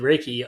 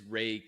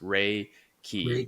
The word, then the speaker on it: Reiki: when you said you did that she did Ricky on you what does that mean that's a yeah that's a great question because not everyone is am I pronouncing it wrong is it Ricky or ra Reiki no it's it is Ray